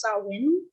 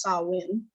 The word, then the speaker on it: Samhain: I believe it's pronounced Samhain, despite it being spelled Samhain.